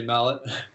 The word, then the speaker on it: Mallet: Yeah, I didn't know if it was Mallet or Malay or something fancy like that. People spell it Malay all the time, like leave a T off the end. So I always pronounce it that way when people write it that way. But it's definitely meant to be Mallet.